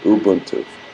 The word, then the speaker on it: Ubuntu: If I'm pronouncing it wrong, let me know. Ubuntu.